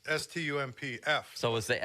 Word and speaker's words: Stumpf: I think it was that Alex Stumpf or whatever his name is.